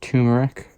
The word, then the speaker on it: turmeric: Now we're going to take the turmeric, or turmeric. It's R. I just say turmeric. I think the first R is silent. So turmeric.